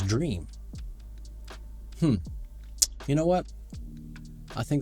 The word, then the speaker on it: Dreame: I think it's not Dreamy, I think it's Dreame.